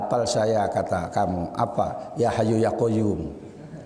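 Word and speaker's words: يا حي يا قيوم: Ya Hayyu Ya Qayyum. Itu sajalah. Ya. Itu pun bacanya salah. Yokayuku yokayumu.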